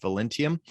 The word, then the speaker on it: Velentium: Am I pronouncing Velentium correctly?